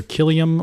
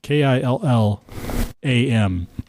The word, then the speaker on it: Killam: So that's either Killiam with an I, even when we break it up based on syllables, right? So it's Killam.